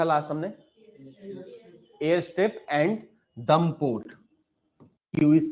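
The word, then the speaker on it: Duqm: Air strip and दम port, Q is silent here. Air strip and दम port, Q is silent in Oman. Airstrip and dum port in Oman.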